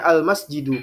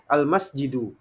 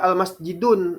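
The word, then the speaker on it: المسجد: masjidun dibaca dengan daten kemudian setelahnya almasjidu Kenapa tidak dibaca dengan domaten Kenapa karena ada alif lam maka dia itu Isim makrifah ya seperti itu almasjidu ya Jadi tidak boleh kita baca ada Alif lamnya kita baca almasjidun ah ini khot Jiddan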